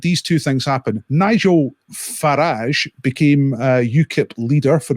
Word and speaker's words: Farage: club and uh nigel farage rhymes with garage became a new cup